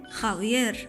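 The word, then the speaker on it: Javier: الأجانب بيتعذبوا عشان ينطقوا حرف الخوطة في الإسباني لأنه بيتنطق خ، زي كلمة خاوير، بس بالنسبة لك كمصري حرف الخاء ده لعبتك، بتنطق خالد وخيار عادي جدا.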